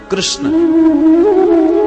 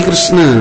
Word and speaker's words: कृष्ण: इनका हर काम टेढ़ा कृष्ण अच्छे भले बोल ना पावे बचारे कृष्ण शब्द का शुद्ध उच्चारण सब लोग नहीं कर पाते बोलेंगे किसन भारत का प्रसिद्ध शहर